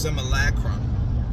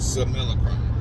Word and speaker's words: simulacrum: Santos told him, look, let's just pronounce it the way it's supposed to be pronounced. It's pronounced simulacrum. And Jason says, oh man, I'm a good old Texas boy, that's just how I pronounce it, so I'm gonna just keep on pronouncing it simulacrum, which he's said that